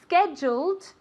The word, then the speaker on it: scheduled: The appointment is scheduled for next week. Scheduled, okay? Just like joya, jewel, scheduled, okay?